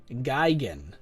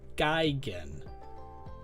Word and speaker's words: Gigan: As for how do you guys say Gigan, I pronounce it just as I just did a second ago. Gigan. Gigan, I've heard before, and I think that's fine. Either way, I mean, we know what you're talking about. If you say Gigan or Gigan, we know who you mean.